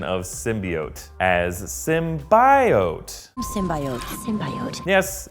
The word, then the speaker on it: symbiote: say it, symbiote is also an acceptable pronunciation. So for anyone who has a problem with it being bi, it's actually okay for it to go both ways.